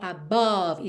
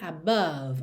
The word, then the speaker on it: above: Esse E final não é pronunciado e o O do meio não é realmente um O, above, e sim above, above.